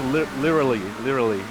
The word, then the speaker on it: literally: while you're on a rant about him pronouncing things, can you tell him that there are 2 letter T's in the word literally? He doesn't pronounce the T's. It's literally.